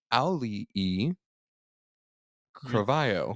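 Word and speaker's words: Auli'i Cravalho: I'm gonna go with Miss Ali E. Carvalho.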